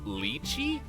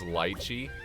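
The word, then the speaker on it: lychee: to take those also I've been told it's pronounced leachi empowering leachi but at the same time it's been very fun to just pronounce it wrong as lii I'll take that I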